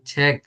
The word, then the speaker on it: 책: 구, আপনি ছেক, আপনি গ কইতাছেন, আপনার উচ্চারণ হইতেছে গ। কিন্তু আমি বলছি যে গিয়ে যখন শব্দের নিচে বসবে বা বাচ্চিম হিসেবে, সোজা হিসাব বাচ্চিম, যখন বাচ্চিম হিসেবে বসবে তখন এটা হবে ক, ছেক।